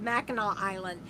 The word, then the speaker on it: Mackinac Island: sorry mackinac mackinaw island it's spelled so odd but it's pronounced i believe mackinaw island and i want to